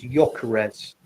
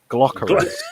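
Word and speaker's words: Gyökeres: You is a silent g is yarez. So you know tell that to the Londoners. They call them glock. Glockarez.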